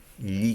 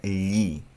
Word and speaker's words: gli: Para decir yo le pregunto en italiano es gli chiedo. Ya, voy a ponerle el yo. Io gli. Esa frase se pronuncia gli.